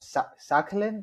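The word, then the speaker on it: Sakhalin: I wanted to ask you more about Sakalin. Am I saying that right AJ? You'll have to help me out here. That's right.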